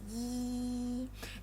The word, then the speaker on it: i: So it's The fourth one, it looks like I, but it pronounced as yi. It's like the last part of the English word see.